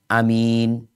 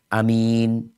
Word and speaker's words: Aamiin: Hamzahnya dipendekin. Jadi amin. Ya-nya tetap panjang. Jadi ya-nya tetap, mimnya tetap panjang ya. Jadi amin, seperti itu.